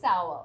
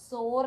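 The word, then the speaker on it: sour: നമ്മൾ സവർ എന്ന് പറയുന്നത് ഇറ്റ്സ് ആക്ച്വലി സവർ സോർ അല്ല നമ്മൾ ഇതിനെ പലപ്പോഴും സോർ എന്ന് പറയാനായിട്ട് ഒരു ടെൻഡൻസി ഉണ്ടാവുാണ് പക്ഷേ സോർ എന്ന് പറയുന്നത് എസ് ഒ ആർ ഇ ആണ് ഓക്കേ എസ് ഒ ആർ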